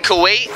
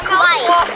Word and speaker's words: Kauai: Dad, they found a new octopus in Kauai. In Kauai? Yeah. You mean Kuwait? No, Kauai.